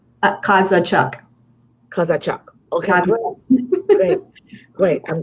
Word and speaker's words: Kozachuk: Now let me take my time to pronounce her last name. Kozachuk. Did I get it right? Kozachuk.